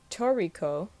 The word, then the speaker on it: Treecko: know by the way Treecko is a name when pronounced Toriko it is a mix of the two words in Japanese that mean bird and cat so for any of